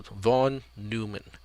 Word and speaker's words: von Neumann: in the pronunciation here the stress or the emphasis is on new so von neumann von neumann volume and volume okay